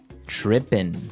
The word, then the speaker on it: trippin': As you notice, it's trippin'. It doesn't have the G at the end, which isn't really grammatically correct, but that's kind of the way it's pronounced. Yeah, we would never say the G.